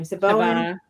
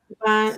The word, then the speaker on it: Siobhan: Saboan, Siobhan.